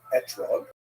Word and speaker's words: etrog: We all correct fruit to Britain is an etrog, or an esrog in the Ashkenazi pronunciation.